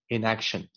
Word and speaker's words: inaction: 10 years of inaction 重音在 a inaction 这里呢我 highlight 的这里为什么呢很多人读成 probably